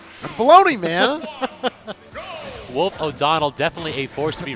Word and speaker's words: O'Donnell: Wolf O'Donnell. Get out of here, Wolf. No, Donald, not Donald. So there we go. O'Donnell.